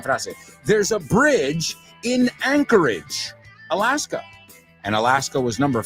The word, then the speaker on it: Anchorage: Anchorage, vamos a pronunciarlo porque anclaje, eso es. Bueno, es por algo que se llama así. Y acuérdate, no es age, Rima con bridge.